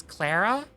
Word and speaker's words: Clara: Uh, your name is pronounced the other way with a different sound for the a. So, it should be correct me if this is wrong. So, it's not Claraara, it's Clara.